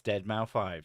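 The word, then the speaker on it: deadmau5: And yes, I know how to pronounce Deadmau 5. It's Deadmau 5.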